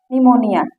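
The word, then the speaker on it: pneumonia: P silent होता है देखिए निमोनिया यहां पर पी से तो स्टार्ट हुआ है लेकिन यहां पर प साइलेंट है क क्योंकि एन आया है पी के बाद एन आया है निमोनिया यहां देखिए न्यूमेटिक यहां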